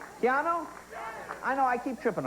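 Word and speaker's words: Keanu: Keannu. Keannu?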